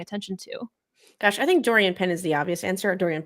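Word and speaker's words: Doriane Pin: to gosh I think Dorian Penn is the obvious answer Dorian P excuse me because her name is French and spelled like pin but it's not pronounced like pin she's really good but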